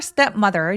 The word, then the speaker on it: stepmother: her step mother didn't let her go. Step mother 할 때 steep 첫 번째 음절에 제일 강세가 또렷하게 오게 되고요. step mother. stepmother 두 번 강세를 가볍게 주시면 됩니다.